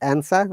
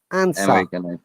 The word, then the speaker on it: answer: yeah what that's right so r is replaced by the vowel sound and that is the rules british are we okay but